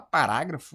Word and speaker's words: parágrafo: Cara, a gente viu que o rágrafo é a tônica.